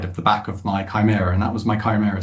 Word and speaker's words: Chimera: I called it a Chimra because um who knows what the pronunciation is when you're 9 10 years old.